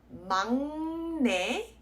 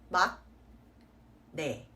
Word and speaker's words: 막내: Okay, so this word is pronounced as 막내, not 막내. So you kind of want to think that the sound of the N and the G like cancel each other out.